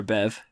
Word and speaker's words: Bev: Beady? Yes. Bead? Beady, Bed? Buddy. We're just going to call her Bev. I got a hyper rare Bev. Because the BE is silent. It actually sounds like a V.